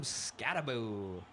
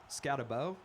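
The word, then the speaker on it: Skattebo: And in addition to to Jackson Dart, we also can't forget about Cam Scataboo.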